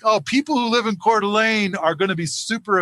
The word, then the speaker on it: Coeur d'Alene: not there's a town over in idaho called coeur d'alene yeah i always see it i always spell it c-o-r-e uh hyphen d-u-h hyphen l-a-n-e delay